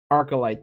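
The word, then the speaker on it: Archylte: I can't pronounce that word, Arcolite. Arcolite, thank you.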